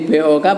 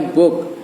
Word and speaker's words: book: bahasa Inggrisnya book ya jadi bok bacanya book artinya buku Kalau buku